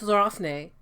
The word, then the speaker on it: Déraciné: It's Déraciné. It's French.